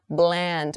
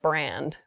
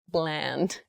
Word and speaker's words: bland: careful with your pronunciation Bland make the l sound very clearly not brand Bland okay so Bland Foods